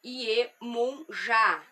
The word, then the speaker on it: Iemanjá: Uma dessas culturas que o povo que foi escravizado trouxe era o culto à orixá feminina Iemanjá, ou Iemunjá, como é pronunciado em iorubá, que é a mãe